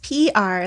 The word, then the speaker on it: Piar: get on the broadcast yes it's just p are like the letters I did okay I